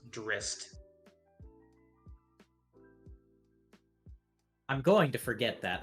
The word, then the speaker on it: Drizzt: So it's actually supposed to be pronounced Drist.